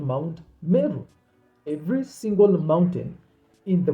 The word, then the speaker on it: Murray: river that is called River meru but the the Europeans spell it as River Murray m-u-r-r-a-y but the historical term is River meru because that entire area